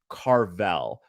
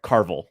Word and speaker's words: Carvel: use a tool called carvel or sorry carvel i keep getting yelled at cause i'm pronouncing it like the ice cream i guess i